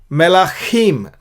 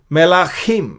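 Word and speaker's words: מלכים: और ये खा है का ख ग घ, वो ख से अलग है। ये ख, इसके नीचे जो डॉट है इसको कैसे प्रोनाउंस करेंगे, तो हा को ख को बीच में, हा के और ख के बीच में बोलना पड़ता है उसको।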